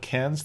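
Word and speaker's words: Cairns: talked about this afterwards if he slips in and calls it Karen that's because that's the way it's spelled if we call it cans that's because that's closer to the local pronunciation to the extent that either one of us can do an Australian accent that's true I'm from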